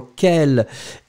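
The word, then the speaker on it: quelle: So let's agree on the fact that quel, whether it's masculine or quel, the feminine form as we have right now on our screen is pronounced exactly the same way.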